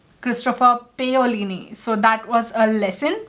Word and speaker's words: Christopher Paolini: For To Sleep in a Sea of Stars, the author's name, I've always been pronouncing it as Christopher Paolini, but in the audiobook it was clearly said that it is Christopher Paolini.